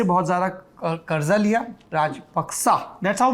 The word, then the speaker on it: Rajapaksa: पाली के करीब है, और जिसे हम राजपक्षे बोलते हैं उसका सही उच्चारण है राजपक्सा।